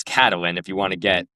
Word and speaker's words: Catelyn: No, but it pissed me off so much because I was like, "First off, it's not even pronounced Catelyn. It's Cat-a-lyn.